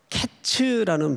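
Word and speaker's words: קֵץ: 하고 카이츠라고 발음하기도 하는데이 끝이라는 말이 캣츠라는 발음을 써요 캣츠 그러니까 여름 과일이라는 카이치라는 발음과 끝이라는 캐치라는 발음이 발음 자체가 유사합니까 유사하지 않습니까 유사하지 않는 건 제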